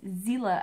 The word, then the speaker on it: Xela: This is Xela, it sounds like a Z, and I think that's how it's pronounced, but it's spelled X-E-L-A.